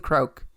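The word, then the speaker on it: Kreuk: Okay, what about one of my favorite characters, which is, you can help me pronounce it, is Kristen Krauk? Is it Kristen Krauk? Sure. Krauk as Lana.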